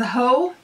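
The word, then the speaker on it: Haux: retrospect next up is spelled ha uux I believe it's pronounced as ho forgive me if I'm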